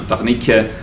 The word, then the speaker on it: Wernicke: And Wernicke should really be pronounced Wernicke, and Broca should be really pronounced Broca.